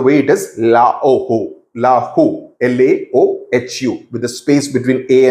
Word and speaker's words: Laohu: This is pronounced the way it is, Laoho, Lahu, Laohu, with a space between A and U, A and O, and O and H.